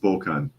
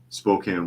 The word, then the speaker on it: Spokane: to close his restaurant Gary Edwards says it's pronounced Spokan is it I don't know I added the E all right Spokan Spokane Washington flukeman says but